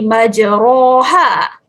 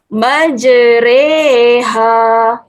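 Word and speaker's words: مجريها: kalau gede Dengok disini bacaannya tidak menjadi majroha kita bicara bacaannya adalah digantikan dengan bunyi Ih jadi majreha majreha Hai Aci jadi salah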